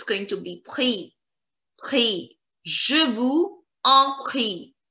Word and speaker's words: je vous en prie: Again, there is a problem because here en starts with a vowel. It will connect with the last word's last letter, that is S, and the pronunciation. Please pay attention.